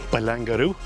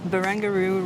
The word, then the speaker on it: Barangaroo: Barangaroo. Barangaroo. Barangaroo. It says right here, baby. Barangaroo. Very good. The only river in Barangaroo. Okay, There we good go. job. It rhymes with kangaroo.